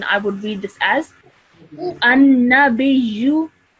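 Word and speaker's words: النَّبِيُّ: Okay, so normally in continuation, I would read this as an-nabiyyu. An-nabiyyu. Excellent. Okay, so you join the ba to the ya with a bit of force because of the shadda.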